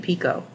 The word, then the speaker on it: PICO: This is the silent T in PICO.